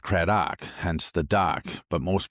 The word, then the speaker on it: Craddock: So, in in our heritage, our last name is pronounced Kraok, hence the dock. But most people when they say it will say Dak, Dak, duck, dick, everything else but Dock.